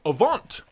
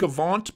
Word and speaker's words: AVNT: a V and T it's like Avant but they've Stripped Away the extra a and the e at the end so it's just Avant bearded gear comment down below